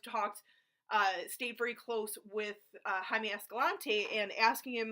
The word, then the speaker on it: Jaime: me Jaime Escalante and everything yes it's it's pronounced Jaime okay not Jaime Jaime Escalante just say it um but um